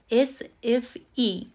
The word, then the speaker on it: SFI: এটাকে বলে সুইডিশ ল্যাঙ্গুয়েজে এস এফ ই এখানে সুইডেনে আই কে কিন্তু উচ্চারণ করা হয় ই বলে তাহলে এস এফ ই আর